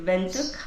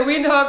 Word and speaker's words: Windhoek: so guys if you have planning to visit vuk it's a m have you heard how she pronounces it you been saying windh windh windh